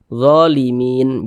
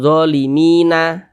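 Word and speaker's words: ظالمين: Ini kalau kita berhenti atau berwakaf tepat di huruf nun, kita baca zalimin, jangan zalimina, limina, jangan, tapi dibaca limin begitu.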